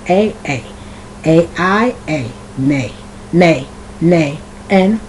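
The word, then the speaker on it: Mai: y which is May you can also spell May which is more of a name m a i some people spell their name m a i which is also May or I've seen the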